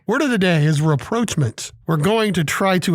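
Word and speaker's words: rapprochement: on today's show well reproachment is a three-syllable word spelled r-a-p-p-r-o-c-h-e-m-e-n-t and it means establishing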